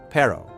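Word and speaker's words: perro: The double R or R R is rolled. It's one of the hardest sounds for English speakers. Dog in Spanish. Pero.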